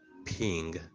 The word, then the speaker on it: PNG: the portable Network graphic PNG officially pronounced as ping which is p-i-n-g is a Rasta graphic